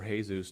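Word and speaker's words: Jesús: please like and subscribe apparently Jesus was here or hay-zu's depending on how how you pronounce his name there's kind of like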